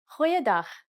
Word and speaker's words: goeiedag: Try pronouncing it from the back of your throat.